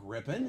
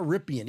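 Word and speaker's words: Rypien: you know it's not rippan it's spelled rippan but it's not rippan it's Mark rippen well of course I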